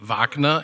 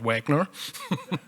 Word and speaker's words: Wagner: Being German, I allow myself to pronounce it correctly, Wagner and not Wagner.